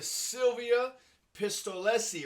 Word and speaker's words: Silvia Pistolesi: are the nobodies today we are talking to silvia pistolesi right that's how you pronounce it yes that's right you're good thank